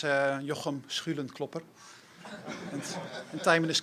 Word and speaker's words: Jochem Schulenklopper: The good part about pronouncing my name is that you get to clear your throat twice. Correct pronunciation is Jochem Schulenklopper.